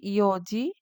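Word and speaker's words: 四時: ইয়ন ইয়নকে আমরা বলছি ইয়োজি, শিচিকে বলছি শিচিজি, নানা বলা যাবে না এবং কিউজি বলা যাবে না, বলতে হবে কুজি।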